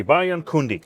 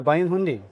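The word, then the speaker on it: Bayan Khundii: Bayan Kundi. That's That's good. Yeah. Bayan Hundi. Okay. Close. You don't say the Kundi.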